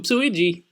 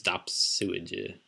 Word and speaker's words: Dopsuigi: I thought it was Oopsuigi, but no, it's Dopsuigi.